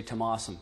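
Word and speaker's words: Tomás: used to saying awesome all the Americans say awesome so that's how you pronounce the last part of my name okay you can say tomasum if you want okay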